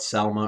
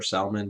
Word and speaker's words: Salmon: is uh it's uh sometimes called selma or salman but it's j it's it's spelled just like the fish salmon um he is uh